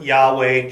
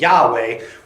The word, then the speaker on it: Yahweh: to yhw H now we don't actually know how yhw H is supposed to be pronounced but the best guess of the Jewish scholars was Yahweh which is understood to